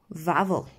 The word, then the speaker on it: Wawel: The hill was called Wawel, pronounced Vavel Hill.